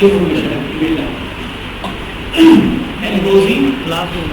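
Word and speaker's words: Ngozi Okonjo-Iweala: एनगोजी, नागोजी, नागोजी नहीं एनगोजी है, उसको एन बोलेंगे, ना नहीं बोलेंगे।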